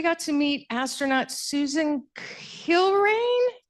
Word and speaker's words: Kilrain: And then another highlight of mine was we got to meet astronaut Susan Kilrain. Kilrain, I believe is how you pronounce her name.